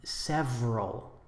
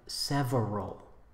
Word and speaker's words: several: We say several instead of several.